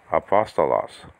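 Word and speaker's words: ἀπόστολος: that you have the word for apostle okay apostolos and uh excuse me um is actually a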